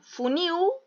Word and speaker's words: funil: Então, funil, le saco la L y le agrego un S. Funil, la sílaba tónica es la I.